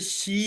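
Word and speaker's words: qi: जी ये ये ची एनर्जी नहीं है, ये शी एनर्जी है। इसका एक्चुअल प्रोनाउंसिएशन जो है वो ची नहीं है, शी है।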